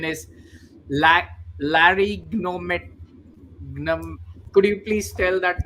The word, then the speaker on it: laryngotomy: the world's first and please help me with pronunciation, is La, Larygnomet. Could you please tell that name, sir? It is laryngotomy.